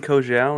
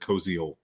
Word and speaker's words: Koziol: I've been saying Kogel, and no one's ever like. It's okay, one's. The pronunciation guide I got from Houston for the radio broadcast in preparation. I think it says it Koziol.